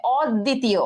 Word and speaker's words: অদ্বিতীয়: আচ্ছা অদ্বিতীয়, অদ্বিতীয়, তাহলে দয় ব আছে, ব উচ্চারণ হবে না, এবং দ এর উচ্চারণ দুইবার হবে, তাহলে অদ্বিতীয়, ঠিক আছে, অদ্বিতীয় দুইবার হয়েছে।